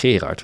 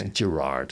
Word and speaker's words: Gerard: we want to Jerry his name was herard which is yeah I think no one can pronounce that it's Gerard in in English but they go hey